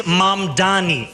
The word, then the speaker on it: Mamdani: The name is Mamani.